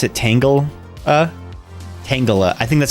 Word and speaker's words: Tangela: I pronounce it Tangela like Angela, but with a T.